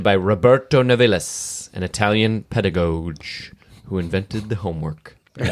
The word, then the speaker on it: pedagogue: Yeah, pedagogue is good. Pedagogue. Yeah, that soft G is good.